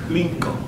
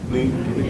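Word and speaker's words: 林肯: But it's Lincoln. Lincoln.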